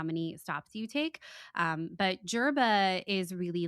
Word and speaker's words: Djerba: When you think about Tatooine, it's actually Jerban architecture, and Jerba is spelled Djerba, Okay.